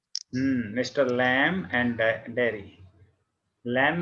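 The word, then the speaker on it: Lamb: लैम में बी नहीं बोलना, हमने LAM बोलना, बस बी साइलेंट।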